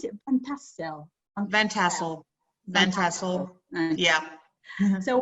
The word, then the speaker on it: Van Tassel: welcome to, how do you pronounce it? Van Tassel. Van Tassel.